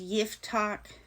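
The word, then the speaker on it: Jephthah: This is a weird name. It's pronounced Yiftach. It's spelled Jepththah.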